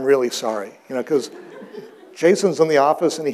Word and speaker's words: JSON: name for one thing nobody knows how it's pronounced I've been saying Jason and I I I hear from guys all